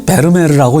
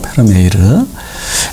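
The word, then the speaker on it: Vermeer: 이게 네덜란드 화가인데 이게 많은 사람들이 베르메르라고 읽습니다. 그런데 이거 그 원어 네덜란드 말로는 페르메이르라고 읽어야 된다고 해요. 페르메이르.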